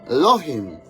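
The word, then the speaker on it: אלוהים: la palabra o sea Dios hermanitos en hebreo pronunciado Elohim hermanitos Elohim equivale claro a Dios pero con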